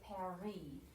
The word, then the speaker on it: Paris: e so like this word how do we pronounce that paris they say parry because this s or this t is not